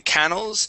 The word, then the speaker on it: canals: canals all right so instead of saying canals it is canals with the accent at the end canals okay now this word